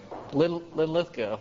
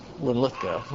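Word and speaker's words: Linlithgow: So, yeah, I get the accent's on the second syllable. Lithko.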